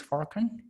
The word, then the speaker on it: Furkan: So you're sorry, your name is Furkan. Am I Furkan, pronouncing yes.